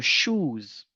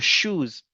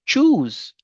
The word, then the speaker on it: shoes: Généralement, il y a des gens qui disent choose, mais faites beaucoup attention, ce n'est pas choose parce que quand vous dites choose, vous avez changé le sens du mot et le mot que vous prononcez, ce n'est pas ce mot qui est là. Quand vous dites choose, c'est le verbe choisir. Maintenant, quand vous voulez parler des chaussures, vous allez dire shoes, shoes.